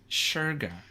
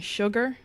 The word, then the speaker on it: Shergar: A lot of people saying sugar. But it's not. It's not sugar though.